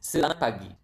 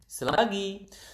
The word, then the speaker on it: selamat pagi: It is selamat pagi. Se la mat se la mat pa pagi. Selamat pagi. So, the natural uh speed would be selamat pagi.